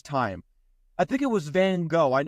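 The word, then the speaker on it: Van Gogh: I think it was Van go I I know it's pronounced van goof but he was known to most as van go when van go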